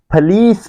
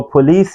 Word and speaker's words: police: पर देख सकते हैं कि ब्रिटिश इसको फलीस बोल रहे हैं, वो इसको पुलिस नहीं बोलते। ब्रिटिश ट्रांसक्रिप्शन देख सकते हैं, फी and then a lease, फलीस। और अमेरिकन्स भी इसको इसी तरह ही प्रोनाउंस करते हैं। ब्रिटिश और अमेरिकन्स की प्रोनाउंसिएशन में कोई डिफरेंस नहीं है जब वो इस वर्ड को प्रोनाउंस कर रहे हैं। सो इट्स नॉट पुलिस, इट्स फलीस।